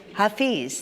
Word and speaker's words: Hafez: Um our reading comes from uh and I should have looked up how to pronounce this, if it's Hafiz or Hafez. Hafez.